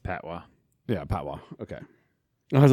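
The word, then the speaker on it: patois: i s it's Jamaican Pat toys but that's it's not Pat toys it's like oh yeah it's pronounced pwa yeah pwa okay I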